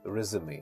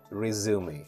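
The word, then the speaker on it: résumé: your work experience and something, and we say resume. So in American pronunciation, we say resume, resume, and in British pronunciation, we say resume.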